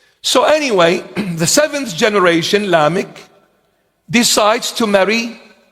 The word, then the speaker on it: Lamech: When you read in the book of Genesis, there is one called Lamech. That's in the Hebrew Aramaic pronunciation. Lamech.